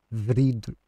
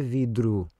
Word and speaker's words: vidro: ouvir na voz deles vrido vrido vrido é vrido vrido repara o r migrou para primeira sílaba não ficou já não é vidro é vrio o vrido